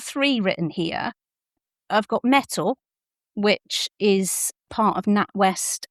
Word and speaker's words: Mettle: I've got Mettle which is part of NatWest and the Royal Bank of Scotland and it's spelled m e t t l e and that comes with free accounting software.